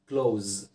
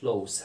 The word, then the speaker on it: close: اول حالة بيقول ان انا ممكن اقدر استخدمها في الجملة كverb، وفي الحالة دي هنطقها close close the sound.